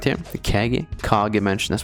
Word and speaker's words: Kage: The Kage mansion, that's how you say it.